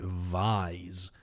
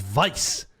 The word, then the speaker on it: Vise: Who the f is pronouncing it Vise? It's Vice. Like squish me between your thighs until I pop like a ripe cherry. Vice. Vice-like grip.